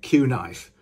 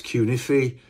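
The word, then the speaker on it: Cunife: The original version was bigger than the normal humbucker, and they had these pole pieces, which I always get this name wrong. I always call it Q-knife, but it's Q-niffy.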